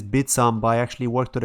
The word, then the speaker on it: Bithumb: bitsump south korea's largest exchange apparently it is pronounced bitsomba i initially thought it was bit hump but it's bitsam but i actually worked with a korean guy who told me it's pronounced bitsam it's the second biggest exchange in korea by